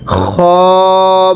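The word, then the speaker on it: خ: এরপরে খ। অনেকেই খকে খা উচ্চারণ করে, যদি খকে খা পড়ি তাহলে পড়া শুদ্ধ হবে না।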